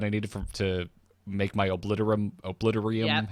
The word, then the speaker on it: Obliterum: I was able to make the ridiculously expensive gloves that I needed to make my obliterium. Yep. How do you pronounce it? Forge. Obliterum forge.